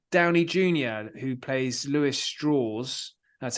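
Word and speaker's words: Strauss: who plays Lewis Straws. That's how it's pronounced.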